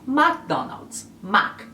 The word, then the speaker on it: McDonald's: E o famoso fast food de hambúrgueres, batatas e tal, é conhecido no Brasil como McDonald's. A maioria dos países que fala espanhol pronunciam como McDonald's. McDonald's.